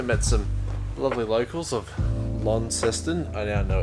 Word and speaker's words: Launceston: but we've also met some lovely locals of lon seston i now know it's pronounced as launceston not lawn system despite the fact it's spelt like you know